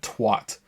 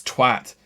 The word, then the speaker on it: twat: I hate that some Americans say that twat. It's twat. It's not twat.